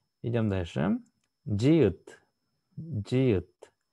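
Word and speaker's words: 지읒: Джиют. Джиют. В верхней позиции она читается как дж, в нижней позиции читается как т.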